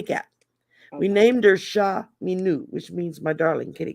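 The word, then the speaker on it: minou: is it no it's it looks like me knew is how you pronounce it but it's spelled m-i-n-o-u because it's french means kitty cat we named her sha minu which means my darling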